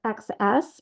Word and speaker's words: XS: And the pattern, I'm not sure if he calls it X's or XS, but it is X's. It's spelled XS like this.